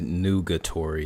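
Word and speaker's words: nugatory: for a debate okay he said noogatory is how you say it new guitar and new guitar so yeah with the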